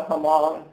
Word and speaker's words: Hmong: On the slide you'll see I talked about the Hmong perspective.